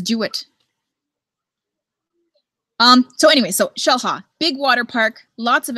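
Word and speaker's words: Xel-Há: It looks like Xel-Ha, but it's pronounced Xel-Ha.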